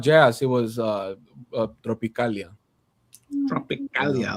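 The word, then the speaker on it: Tropicália: Tropicalia. I like the way you said that. Tropicalia.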